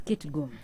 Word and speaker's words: Kitgum: Is it Kitgum or Kitgum? It's Kitgum. Okay.